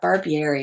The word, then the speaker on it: Barbieri: For decks, how do you pronounce it? Yeah, Barbieri.